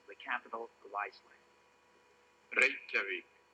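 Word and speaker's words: Reykjavík: Torres leaves, I wish he'd do me one great favor and tell me how he pronounces the capital of Iceland. Reykjavik. Reykjavik?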